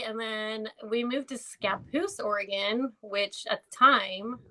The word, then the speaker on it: Scappoose: Scappoose.